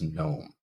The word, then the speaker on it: gnome: any sound at all it's not gnome it's just gnome and it's the same